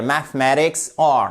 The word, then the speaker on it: mathematics: à la prononciation pourquoi car nous avons ici un accentonique la syllabe qui se trouve ici donc la deuxième est accentué elle va du M